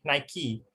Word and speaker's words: Nike: mispronounced the name of nike it is correctly pronounced by nike and the name come from the greek darkness